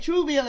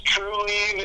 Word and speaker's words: Trueleave: The name is Trueleave. It's like relieve, but with a T-R-U instead of the R-E, Trueleave, because you get Trueleave from this company.